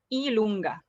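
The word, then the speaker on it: i lunga: all right now so j it's pronounced as ilonga okay so read this after me e lunga kappa x epsilon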